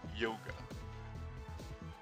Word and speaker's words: Hyoga: That's really aggressive, Hyoga. Then again, I'm told it's actually pronounced Yoga.